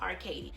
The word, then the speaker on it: Arkadie: Arkady and my last name is spelled AR ka d IE so I'm going